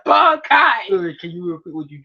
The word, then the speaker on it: Bankai: He said Bankai. Can you repeat what you just said? And if he says it like Mayuri, which he really enunciates the syllables like Bon and Kai, like Bankai.